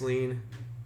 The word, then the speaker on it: lien: that you can buy tax lean it rhymes with green should be easy to